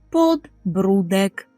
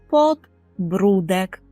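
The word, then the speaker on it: podbródek: так щелепа щелепи підборіддя підборіддя по польску то подбрудек подбрудек подбрудек записуємо через окрисковане підборіддя подбрудек шия нічого важкого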